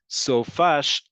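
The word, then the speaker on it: סופ״ש: So if I can say Sof ha shavua, 5 syllables, in only 2 syllables, sofash, I'm going to pick sofash.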